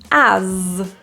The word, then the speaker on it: as: with an S but we pronounce it with a zed sound so this is a voiced Z as you the typical reduced